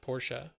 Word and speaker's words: Portia: at Porsche Porsche it's like Portilla but it's pronounced Porsche it's basically we were just talking about that